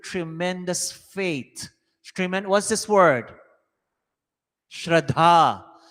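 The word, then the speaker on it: श्रद्धा: Shraddha. The dha is heavy. Thank you, Panit Siram, for saying it correctly. Shraddha.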